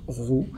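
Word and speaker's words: ρ: pays un peu courbé ça se prononce ro je vais donc diviser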